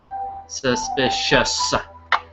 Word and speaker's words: suspicious: of those words where you have the C which doesn't sound like a c it's a soft C sound so it sounds like an S suspicious okay so we we